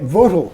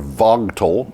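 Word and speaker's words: Vogtle: overruns at George's plant votal or Vogal if you want to pronounce it the way it looks like it should be pronounced well I looked it up it's votal it's votal nuclear power plant are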